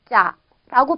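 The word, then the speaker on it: จะ: 그러면 자음 쌍지옷과 모음 아가 결합을 했으니까 발음은 짜라고 발음이 되겠죠.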